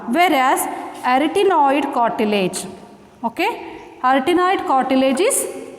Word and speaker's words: arytenoid: How to pronounce? arytenoid cartilage.